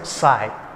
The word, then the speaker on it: psi: Volume integration of psi psi, p is silent. This is known as psi.